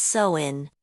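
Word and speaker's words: Samhain: The night before the new year on October 31st, they celebrated a festival called Sin, pronounced sin.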